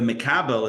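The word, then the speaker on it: מקבל: So mashpia, and the mekabel is M-E-K-A-B-E-L.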